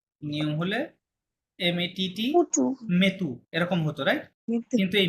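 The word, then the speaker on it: mis: নিয়ম হলে এমএটিটি পুচু মেতু এরকম হতো, রাইট? কিন্তু এই মেতু হবে না, এটা কি হবে তাহলে? এটা হবে হচ্ছে এমআইএস মি। এটা কি হবে? মেথের মি হবে, লাস্টের এস কিন্তু সাইলেন্ট।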